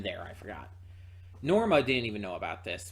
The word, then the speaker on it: Norma: of covered up uh norma norma there's an m there i forgot norma didn't even know about